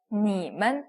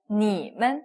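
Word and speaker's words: 你们: 근데 우리가 딱 보니까 경성이에요. 그러면 니만 이렇게 읽어주시면 되겠죠. 니만, 네, 가볍게 탁 내려오는 느낌으로 니만 읽어주시면 되겠습니다.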